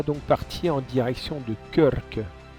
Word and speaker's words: Krk: Nous voilà donc partis en direction de Körk. Il faut bien rouler les R quand tu le dis, et ça s'écrit KRK.